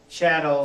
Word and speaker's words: chattel: it's the concept that chattel like rhymes with cattle and you're essentially property